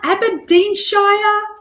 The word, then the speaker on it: Aberdeenshire: only incredible all the way from Ab ABA abadin Shire Scotland I hope I hope I pronounced that correctly all the way from Scotland